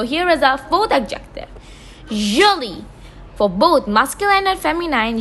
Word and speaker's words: jolie: For both masculine and feminine, jolie is pronounced as the same. Jolie means pretty. So for a boy and for a woman or for a girl or for a man, jolie, we have the same pronunciation. There is no difference in the pronunciation.